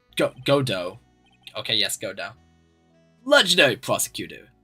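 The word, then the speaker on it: Godot: Godo. Oh, it's it's pronounced Godo.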